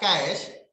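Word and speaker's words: cache: जो कैश memory होता है, इसका प्रोनाउंसिएशन क्या होता है, कैश होता है।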